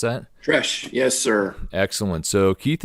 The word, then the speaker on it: Tresh: Tresh, is that how you pronounce that? Tresh, yes, sir.